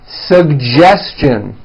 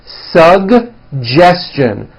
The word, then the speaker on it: suggestion: Kate educate next one suggestion this one's also a bit tricky suggestion suggestion very good now the American J